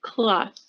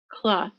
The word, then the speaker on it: cloth: are some exceptions so you have to pronounce the th in cloth okay like a piece of fabric you say cloth cloth maybe like a kitchen